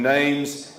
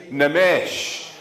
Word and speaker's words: Namesh: Most people know him as Nathan Neems. It's actually pronounced Nathan Namesh.